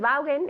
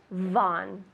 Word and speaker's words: Vaughan: translation i work for von systems von systems pilar what is that in spanish good everybody says valgen in spanish but in english von von and on top of